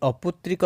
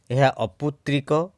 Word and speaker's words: ଅପୁତ୍ରକ: অপুত্রিক এবং অপুত্রক এই অপুত্রিক শব্দটি আম ভাষারে বহুল ভাবরে ব্যবহৃত হয়ে প্রকৃতরে অপুত্রিক না অপুত্রক সে বিষয়ে আজ সংক্ষিপ্ত আলোচনা পুত্রক শব্দ অর্থ পুত্রবান যে পুত্রকণে সে অপুত্রক তেনু অপুত্রকহী হেবহার শুদ্ধ উচ্চারণ এবং স্ত্রীলিঙ্গ হেলে এহা